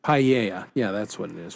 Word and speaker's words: paella: it's the rice and the fish and that's paella, the baked right? Paella.